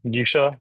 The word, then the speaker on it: Nisha: So, um, Nisha, go ahead. And apologies if I'm mispronouncing your name.